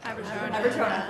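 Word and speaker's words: Aberjona: It's like one of those towns that people, and I don't know how to pronounce the name of your river. I'm really sorry. Abertona.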